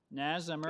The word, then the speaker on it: Nas Amr: I have one person registered to speak, and that is Nas Amr. I obviously mispronounced that. Sir, are you there? Nas Amr? It is correct, actually.